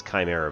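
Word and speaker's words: Cymera: Um, is it Chimera? I think it's I think it's Chimera, but it's spelled weird.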